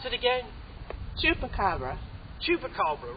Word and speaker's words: Chupacabra: Today, we're going to take you on a wonderful adventure to find an amazing creature, the how do you pronounce it again? Chupacabra.